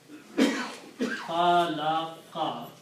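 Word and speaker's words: خَلَقَ: Min sharri ma khalaqa. It's very important that Arab are correctly and harakat are correctly spoken. So if you stop there, you don't have to pronounce fatah.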